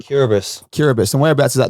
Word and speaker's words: Kiribati: was it called curabus curabits and whereabouts is that in the world between Fiji and Hawaii there you go spelled like Kiribati k-i-r-i-b-a-t-i that's um that's a